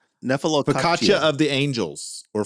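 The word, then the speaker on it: nephelococcygia: Nephelococcia. And I had to actually type that into the Google how to how to pronounce, and I typed it in.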